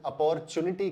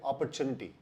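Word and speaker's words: opportunity: अगर आपने इसका उच्चारण अपॉर्चुनिटी किया तो वो उच्चारण सही नहीं है। इसका सही उच्चारण है अपॉर्चुनिटी, अपॉर्चुनिटी।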